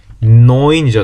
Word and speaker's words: neun: 9이 아니고 neun이죠. neun. 에하고 우가 붙으면 에하고 우가 있으면 이 이중모음은 오이라고 읽는다. 오이.